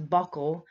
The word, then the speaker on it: buccal: I did say buccal, and a lot of people will say buccal in healthcare, but I was informed by a dentist it is buccal, and I did double check. Buccal is the correct pronunciation.